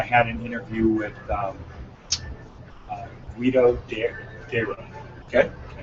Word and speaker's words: Deiro: So yesterday I had an interview with Guido Deiro. Okay. D-E-I-R-O. Okay. But it's 2 syllables. Deiro.